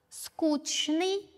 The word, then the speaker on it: скучный: Скучный, скучный.